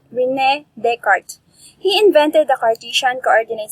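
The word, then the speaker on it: René Descartes: descartes we need card why is it pronounced at the card instead of the scartest so that is a french name so that is why that is called rene descartes he invented the cartesian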